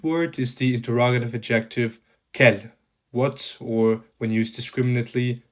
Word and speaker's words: quel: All 4 adjectives are pronounced identically, as you could hear from me, unless the following noun starts with a vowel, in which case the 2 are liaised, so you have this kind of liaison we already talked about.